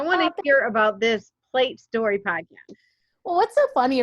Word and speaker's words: Pl8 Story: You also have a podcast, Trista's Plate Story, but it's spelled different. It's PL, the number 8, and then story, but you say it's Plate Story Podcast. And it's like a license plate.